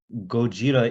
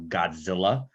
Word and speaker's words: Gojira: correct the white character, be like, no, Gojira is the correct pronunciation, not Godzilla. Godzilla is the anglicized thing.